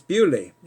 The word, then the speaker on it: Bewdley: you're it's gonna be it doesn't pronounce like it's Billy it's bewdley English the French pronunciation would